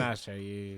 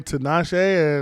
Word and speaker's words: Tinashe: See, I don't even know how to pronounce her full last name. Tinashe, yeah.